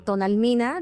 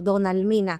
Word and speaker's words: Tonalmina: pronunciar los nombres y les ponen otro nombre como Tonalmina, luego le terminan diciendo Donalmina como Donal, como donat, no sé.